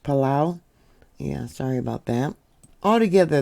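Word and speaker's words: Palau: Mariana Islands and Apollo actually that might be pronounced palao yeah sorry about that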